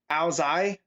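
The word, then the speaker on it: áo dài: But it's pronounced apparently Ao Zai, and it's Vietnamese. So, Ao Zai, okay.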